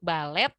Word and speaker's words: ballet: Nah, di sini untuk ballet ya, T-nya itu memang silent, tapi kita sedikit ubah ke sound Y, jadinya ballet.